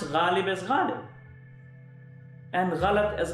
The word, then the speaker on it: Ghalib: And she pronounced the word Ghalib, the famous poet, as Ghalib, which is not the Urdu pronunciation. It's a Hindi pronunciation of Ghalib.